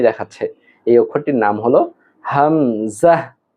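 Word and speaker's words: همزة: এই অক্ষরটির নাম হল হামজাহ। হামজাহ। হামজাহ।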